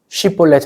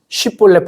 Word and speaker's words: 쉽볼렛: 해요 그러자 입다가 꾀를냅니다 쉽볼렛 해 봐 쉽볼렛 그런데 에브라함 사람들이 사투리가 쉬면서 쉽볼렛 발음을 못 하고 쉽볼렛 이럽니다 마치 경상도 사람들에게 쌀 해 보세요 살 쌀 살 이런 느낌이에요 쉽볼렛 해봐 했는데 렛을